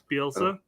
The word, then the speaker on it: Bielsa: Bielsa?